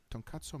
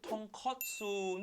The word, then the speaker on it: tonkatsu: He just loves ramen, and his favorite one is this one, Tonkatsu Miso Shasu Ramen. Pronounced wrong again. It's tonkatsu, not tonkatsu.